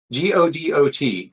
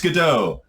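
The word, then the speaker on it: Godot: There's How do you pronounce this? Is it GDO? G O D O T. Yeah. Yeah, it's GDO.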